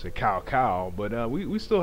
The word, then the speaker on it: Cao Cao: closer and closer to finally uh conquering uh sa sa or as I like to pronounce it cow cow but uh we we still have a bit